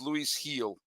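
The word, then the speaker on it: Luis Gil: Jonathan Kin who uh who corrected me it's pronounced Luis heel okay you're right you're right I did I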